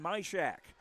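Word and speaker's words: Majkrzak: The third kill for the freshman Vivian Mishack, which is spelled M A J K R Z A K.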